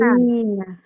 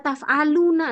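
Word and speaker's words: تفعلين: Taf'alina. Naam, taf'alina. Kenapa kok nggak dibaca taf'aluna? Lah kalau dibaca berarti waw dan nun, bukan ya dan nun. Karena ini ya dan nun, maka bacanya taf'ali, bukan taf'alu.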